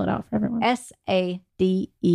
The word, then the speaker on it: Sadek: Well, let's just spell it out for everyone. S-A-D-E-K. Sadek.